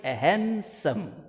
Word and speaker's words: handsome: handsome not hand handsome the pronunciation of the word is handsome not hand the handsome young man